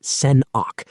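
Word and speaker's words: Sen̓ákʷ: This is Sen̓ákʷ, pronounced Sen-awk, a new development owned, managed, and championed by the Squamish Nation, an indigenous group native to British Columbia.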